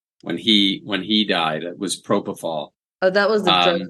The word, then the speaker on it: propofol: what the surgery was, but they gave him peripheral. Is that how you say it? Propofol? Propofol.